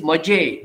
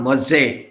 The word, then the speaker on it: maje: of mazo is maje, look at the spelling, mazo, but plural is maje, j. It is not maze, it is maje.